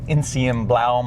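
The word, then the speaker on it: Enzianblau: I love the gentian blue interior pack, or as I was taught in Germany, they call it Insienblau Metallic is the way they pronounce the color, Insienblau Metallic.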